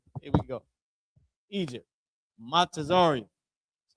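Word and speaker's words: מצרים: Matazarium. That's how you pronounce it.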